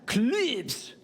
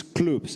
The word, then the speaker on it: Clubs: i pronounce it correctly please welcome clives is that the case hello it's clubs actually so yeah my name